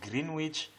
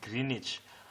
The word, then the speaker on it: Greenwich: some people call it greenwich some people call it pronounce it greenwich but that meridian that